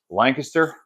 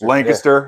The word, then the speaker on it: Lancaster: It's Lancaster. People that aren't from there or don't know what it is, it's Lancaster. But if you know it, it's Lancaster. Yeah. Like it's just weird how you say it.